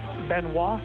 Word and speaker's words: Benoit: Uh Benois. It's spelled B E N O I T.